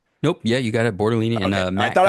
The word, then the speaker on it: Bortolini: Bortolini and Okay, I Matt thought I Goncalves.